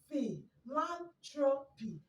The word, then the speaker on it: philanthropy: i want you to remember that star's an f sound so it's going to be what fee lan trophy and fe land tropists